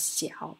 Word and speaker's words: 小: This character pronounced as 小, means little, 小.